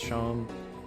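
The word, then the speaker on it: Seam: Pronounced Sham.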